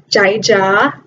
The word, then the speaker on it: Jai Ja: Anyways, welcome to my new YouTube channel called Jai Ja. Jai Ja Ja. So that's actually how you say my name in Laos.